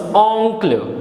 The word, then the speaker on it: oncle: The next is O-N-C-L-E. Any guesses? Well, this is oncle. O-N is O, C-L is clo, clo. So it becomes oncle, which means uncle.